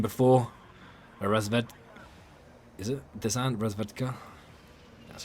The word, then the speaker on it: Razvedka: Razvedka? That's how you pronounce that.